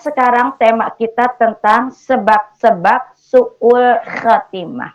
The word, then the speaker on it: su'ul khatimah: Kita akan bahas sekarang tema kita tentang sebab-sebab su'ul khatimah. Pengucapan sebab-sebab su'ul pakai ain, su'ul khatimah pakai kho.